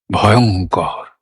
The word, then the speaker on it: ভয়ঙ্কর: ভয়ঙ্কর ভয়ঙ্কর।